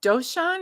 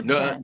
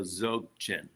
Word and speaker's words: Dzogchen: Jochen? No, Zochen. the D is silent. See, So D is fine. the Okay. D is silent, so Dzogchen.